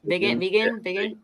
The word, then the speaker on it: Vigen: Yeah, Vigen.